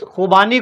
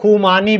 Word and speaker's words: खुबानी: इस खुबानी को कई लोग खुमानी भी कहते हैं।